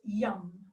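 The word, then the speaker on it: yam: the heart center and the sound is young so it's if you wanna spell it's it's Y a.m. but it's not the eating young but you get to DA her at the other shots but it's young so so I'll just demonstrate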